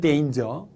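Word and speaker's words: danger: 이렇게 말하는 경우도 있습니다 물론 이단 의 정확한 발음은 데인즈 데인저 은 데인저 자 또 어떤 분들은 요 설탕이나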